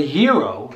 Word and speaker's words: gyro: place so and i was just feeling a ja uh or a hero if you're greek sorry i did pronounce